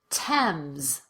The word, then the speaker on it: Thames: The most common exceptions are words that are spelled with TH, but pronounced as t, or the T sound. Let's go through them together. Repeat after me. Thomas. Teresa. Tie. Time. Thames.